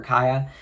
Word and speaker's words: Khia: it is a bit of unfortunate irony for Kaya. A whole term invented for her, and people don't even know how to pronounce her name.